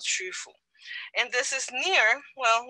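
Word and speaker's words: Qufu: idea of this place in shandong is called chufu and it's pronounced with a queue it's hard to pronounce that this is a pinyin spelling and it is called shufu and this is near well let me see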